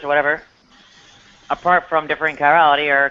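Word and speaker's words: chirality: academic uh I guess I believe it's pronounced Kirality kirality.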